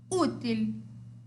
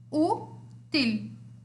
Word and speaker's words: útil: Qual é a sílaba forte? U. Certo? Se o U é a sílaba forte, ela vai ser a minha paroxítona, ou seja, em espanhol, liana, ou grave. Certo?